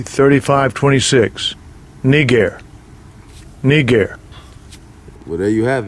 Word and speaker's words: Niger: us in the L inlt let's hit his pronunciation strong G 3526 Niger Niger well there you have it it's pronounced